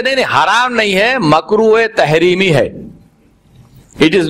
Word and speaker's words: makruh: Very, very imposing kind of word, makruh tahreemi. Like you say it like this with a ha nicely.